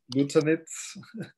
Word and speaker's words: Luczanits: I should have given a kind of introduction to my name to cross out the first C. Then it's Luczanits, which is relatively easy to pronounce then.